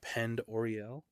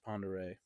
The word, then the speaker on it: Pend Oreille: Ponder it's actually it looks like it's Lake Penn Orel but it's pronounced Ponder don't ask me these people I don't get